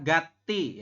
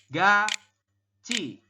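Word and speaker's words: 같이: delete dulu teman-teman ya Secara tulisan anda mungkin akan membacanya adalah Gati ya Gati ya enggak secara tulisan begitu ya jadi tietnya naik ke sini Jadi Ti seperti itu Gati ya padahal menurut aturan baca nomor 13 Anda membacanya bukan gate dibacanya adalah ga Ci seperti ini Oke Kenapa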